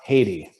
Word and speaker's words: Heidi: yeah anyway haiti yeah it's pronounced haiti oh haiti okay sorry